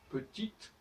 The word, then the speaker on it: petit: Petite, c'est la nuit. Petit, où on masque le T, où le E disparaît, et quand le E disparaît, ça veut dire que le T ne doit pas se prononcer.